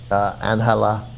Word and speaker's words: Angela: I guess, or impose sanctions immediately without checking with congressional leaders, without going to the State Department, without calling Angela.